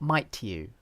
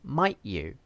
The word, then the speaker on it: might you: people wouldn't do that we would just use a glottal stop might you not might to you it's too clear it's too much might you it's it's too much okay just say might you that sounds more natural and then same idea